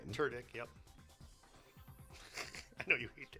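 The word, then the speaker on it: Tudyk: all right Alan TK which is the correct way to pronounce the name turck yep I know you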